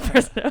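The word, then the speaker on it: Pfresno: That's spelled P-F. Fresno. Cool.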